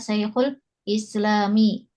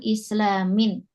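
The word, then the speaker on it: الإسلامِ: Karena ada alif lamnya, maka kita bacanya Syekhul Islami ya, bukan islamin.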